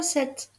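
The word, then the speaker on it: sept: l'intérieur du mot c'est le chiffre 7 avec un P muet s e P t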